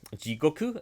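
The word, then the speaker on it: 地獄: So Jikoku, the words they use, Jigoku, it means time prison. If you read the word, but when you pronounce it, it sounds like just hell.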